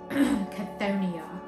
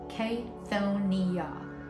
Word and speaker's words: Chthonia: So I'm going to start with Chthonia, and I'll add them in the description, the pronunciations for this. So this is k-tho-NEE-ah.